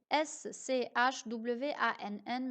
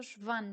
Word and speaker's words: Schwann: Ça s'écrit S-C-H-W-A-N-N, mais ça se prononce Schwann, pas Schwann.